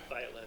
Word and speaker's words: Violet: Deputy Violet, is that, am I pronouncing your last name correctly? Violet or viole? Either one. How about Viole? That one Okay.